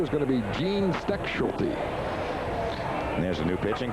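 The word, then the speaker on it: Stechschulte: And Tom, this is on you, the pronunciation. It's Steckschulte.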